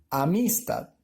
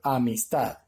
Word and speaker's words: amistad: Si la divido en sílabas, puedo decir amistad. No suena correcto, ¿verdad? O amistad. No suena correcto. Entonces suena correcto amistad, ¿cierto?